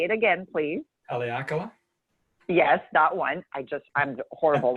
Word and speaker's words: Haleakala: Because by the time, again, you pronounce the volcano so well. Say it again, please. Haleakala?